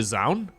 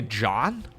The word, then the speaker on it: Zoun: the username Into the Zoun. Some people say John. Look, the O U is a very common vowel sound in Dutch. And it's pronounced as Ow. So, for me it's always Zoun, okay?